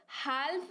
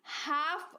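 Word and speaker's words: half: यहां पर क्या करेंगे एल को भूल जाएंगे साइलेंट करना है ना उसको तो आप अपने आप को क्या कहेंगे की भाई अल्कोहल जाओ इस शब्द में एल है ही नहीं क्योंकि यहां पर रूल लग गया हमारा अलका साइलेंट लेटर अलका है ना तो एल को जाइए भूल अब भूल करके स्पेलिंग को पढ़िए क्या पढ़ेंगे इसे हम हेल्प नहीं हम इसे हाफ पढ़ेंगे है ना अगला उदाहरण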